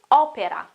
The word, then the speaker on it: opera: And also when you talk about music, we don't say opera or anything, we say opera, opera. Open O at the beginning, opera, opera. Remember to pronounce the E sound, so the E, opera, opera.